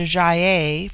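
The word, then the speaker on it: Gy-ei: hard as in guy it forms itself into jaia for the plural but the G becomes soft in the plural like j y Dash e i they have a proverb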